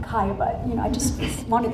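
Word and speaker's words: Caillebotte: when i taught eighth yard history i love saying the name kaya but you know i just wanted the students to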